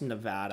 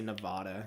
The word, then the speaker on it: Nevada: Also, it's pronounced Nevada. I hate when people say Nevada.